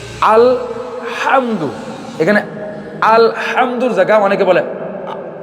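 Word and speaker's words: الحمد: ভিতরে আপনারা দেখবেন যে আল হামদু এখানে আলহামদু জায়গায় অনেকে বলে আলহামদু অথবা আলহামদু আলহামদু এখানে এখানে লামটা ছুটবে না লামটাকে ধরে রাখতে হবে আলহামদু আলহামদু এই হাই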